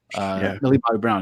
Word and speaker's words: Millie Bobby Brown: Millie Bobby Brown is how you say it, right?